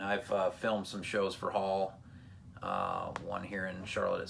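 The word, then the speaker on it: Haal: And they've now joined a band called Hall, and it's spelled H-A-A-L.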